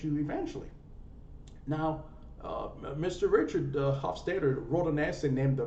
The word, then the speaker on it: Hofstadter: His last name is spelled Hofstadter. Hofstadter.